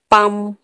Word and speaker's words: palm: पम, PALM, पम। N silent कब होता है?